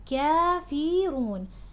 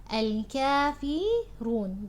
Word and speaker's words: الكافرون: قل يا أيها الكافرون. الكافرون. The fa is light, the ra is heavy.